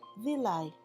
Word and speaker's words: villi: intestinal wall small hairs called villi this is pronounced villi allow the nutrients to reach the blood which